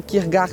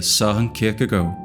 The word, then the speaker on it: Søren Kierkegaard: No Brasil a gente fala Kierkegaard, mas com certeza a pronúncia está errada. De fato, uma pronúncia mais próxima seria Søren Kierkegaard.